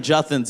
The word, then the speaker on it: Juthin: My best friend Juthin's is, my name is Juthin. Rhymes with nothing, which is just...